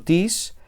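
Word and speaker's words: τις: Esta palabra, tis, es enclítica. Enclítica. Y eso significa que se pronuncia normalmente con la palabra anterior y su acento recae sobre la última sílaba de la palabra anterior.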